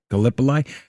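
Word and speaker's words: Gallipoli: Because of how do you say galipoly? Galipoli.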